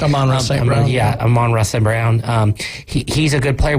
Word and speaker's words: Amon-Ra St. Brown: They're looking for that type of stuff, and it's awesome when was it Amon St. Brown? Is that how it's said? Amon-Ra St. Brown.